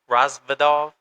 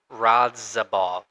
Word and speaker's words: Radzhabov: Once he did that, and he really Razvadov, how you say his name? Radzhabov. Yeah, it's like R-A-D.